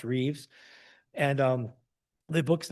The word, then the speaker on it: Rives: His name's Richard Rives, but pronounced Reeves.